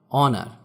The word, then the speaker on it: honour: Silent H, যেমন অনার, HONOUR, এখানে এইচ এর উচ্চারণ হবে না।